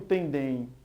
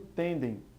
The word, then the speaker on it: tendem: Eu não digo tendem, eu digo tendem. É como se houvesse uma pronunciação diferente em cada uma das palavras. Também e porém, a tonicidade é a mesma. A tônica realmente é a última, sendo uma palavra oxítona. Enquanto tendem, a pronúncia mais forte fica na sílaba tem e não em dem.